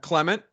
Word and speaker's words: Clement: Clement. Yeah. Okay. I got to go with that then. Yeah. I say, I don't know, for some reason I do Clement wrong.